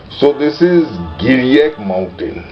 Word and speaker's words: Giriyak: So this is Giriyak mountain. Giriyak mountain, what Zhang mispronounces as Ki-li-tho-kiu-cha. Giriyak, Ki-li-tho-kiu-cha.